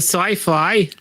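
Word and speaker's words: Syfy: Go to Sci-Fi. Is that how you Sci-Fi?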